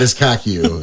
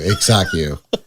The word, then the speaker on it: Iksaku: No, not not Iskaku? Not Iskaku. Iksaku.